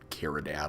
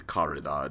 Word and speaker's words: Caridad: I was pronouncing it Caridad like an American accent earlier, but I think it's Caridad if it's supposed to be Spanish.